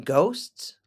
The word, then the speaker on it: ghost: Do you believe in ghosts? Ghosts. Yes, it's our next vocabulary word. G-H-O-S-T. Ghost. Ghost. It's a hard G with a long O.